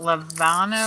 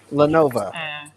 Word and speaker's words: Lenovo: Because it's a Levano or Levano. I don't know how to say it, but. Lenovo. Lenovo. Yes, thank you.